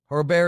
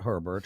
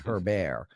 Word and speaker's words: Herbert: for the giants um her bear is definitely going to be mispronounced his name there people not herbert her bear uh the quarterback for